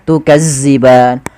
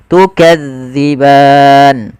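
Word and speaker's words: تكذبان: Hati-hati di dalam melafalkan zal karena zal ini salah satu huruf idlak yang dia pelafalannya di ujung lidah kita menempel dengan gigi sari ya. Maka gesari atas dza jangan dibaca dengan zaza makan jangan baca tukazziban tapi kita bacanya tukadziban. Kemudian pada lafal ban kembali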